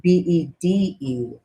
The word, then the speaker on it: bede: actually derived from that old English word Bede is pronounced the same way bead okay and the absolutely